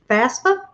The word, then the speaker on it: FAFSA: out all his um paperwork for the um fafsa is how you say it it looks real